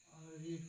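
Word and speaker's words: read: जैसे राइट का हो जाएगा रोट और रीड का हो जाएगा रेड। रीड स्पेलिंग तो सेम रहेगा लेकिन उसको पढ़ेंगे रेड, रीड रेड।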